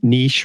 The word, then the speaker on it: niche: a website in a niche, right? Niche rhymes with quiche, type of thing.